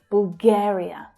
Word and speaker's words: Bulgaria: Bul, bul. That's an unstressed syllable. Bulgare, Bulgare. The second syllable there is the stressed syllable. Bulgaria, Bulgaria.